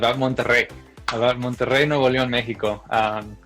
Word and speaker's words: Monterrey: one to write about Monterrey no value in Mexico that's how you pronounce the double R's in the name but can you tell